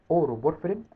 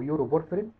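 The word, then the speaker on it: uroporphyrin: عندنا اورو بورفرين او يورو بورفرين، وعندنا كوبرو بورفرين، كو برو بورفرين عشان تعرف تنطق. يورو بورفرين او في دكاتره بتقول عليها اورو، اورو بورفرين، وفي كو برو بورفرين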